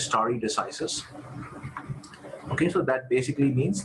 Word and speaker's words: stare decisis: idea of judicial precedent this is called story decisis okay so this pronunciation is star decisis okay so that basically